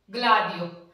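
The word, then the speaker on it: gladio: आ आया, जी एल आ दी ई ओ, ग्लाडियो। ग और ले बन गया ना, गल की उच्चारण आ रहा है ना, इसका उच्चारण गल में, ग्लाडियो।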